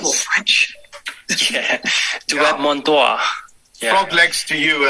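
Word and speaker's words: Dieu et mon droit: It's actually pronounced as Duet Mon Doigt. I mispronounced. That sounds more French. Yeah, Duet Mon Doigt.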